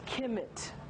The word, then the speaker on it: Kemet: This symbol here, I don't quite know what it is, but it gives you the KH or the K sound. So this spells Kemet, the black land, the Ka.